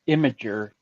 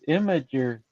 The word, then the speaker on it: Imgur: pronounce it it's pronounced imager stupid imager yeah it's not the way it's red it's red but somehow somehow they say it no it's imager well it's from image yeah i don't know